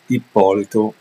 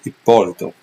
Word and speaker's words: Ippolito: chess opening by Dean ipolito uh notice I'm pronouncing the last name correctly because it's a Italian last name so it's not ipolito like Americans say ippolito uh with that said